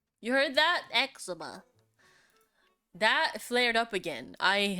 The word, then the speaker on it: eczema: that I have is my how do you pronounce that? Hold on. Let me Google it up. Eczema. You heard that? Eczema.